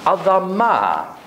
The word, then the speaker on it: adam: closely related to that 'adamah'. Now I don't know if you've done vowel pointings. A D M. The vowels aren't put here they're put underneath this is long a long a - 'adam' the word for soil